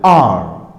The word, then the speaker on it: hour: This is not pronounced however, this is pronounced are.